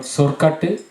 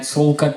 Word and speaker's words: sorkattu: So sol plus kattu becomes sorkattu. And sorkattu is, don't ask me why the L becomes an R, but that's how it is. Sorkattu is, a lot of people still write on the internet solkattu. It's wrong because of combination of individual words in Tamil.